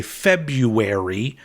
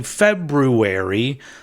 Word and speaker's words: February: start saying it correctly I used to always say February but it's actually February so now I'm trying